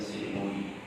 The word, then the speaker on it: St. Louis: Louis, bacanya St. Louis.